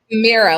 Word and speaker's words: Mirah: I am so thrilled to have with us Myra. Am I pronouncing your first name right? Mera like mirror mirror on the wall.